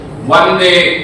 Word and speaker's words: Vande: You see that this Bande is a Bengalian pronunciation. Vande is a Sanskrit word.